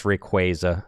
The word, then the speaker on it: Rayquaza: It's Rayquaza. I know. I don't like it. It's Rayquaza. How do you say Arceus? It's Arceus. It's not Arceus. It's Arceus. Yeah. That is Arceus. It's Arceus. It's Rayquaza.